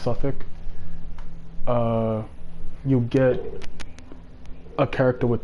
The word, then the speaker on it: Southwark: When you liberate, I forget which which place, I think it's Suffolk, or Southwark is spelled, but it's pronounced Suffolk.